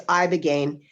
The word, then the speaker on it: ibogaine: Yes, it's ibogaine, and it's spelled ibogaine.